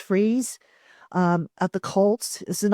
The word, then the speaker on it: Fries: Will Freeze, I think is how you say it. It's spelled Fries, but I think it's pronounced Freeze.